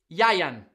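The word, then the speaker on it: Ieuan: Pronunciation is Yayan.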